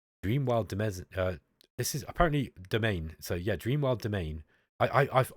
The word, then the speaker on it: Domain: This is pronounced domain, and if you actually think about how French is pronounced, that actually makes sense.